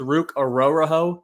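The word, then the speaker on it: Ruke Orhorhoro: get Michael penck Jr they followed up with ruk aoro is how you say his name um I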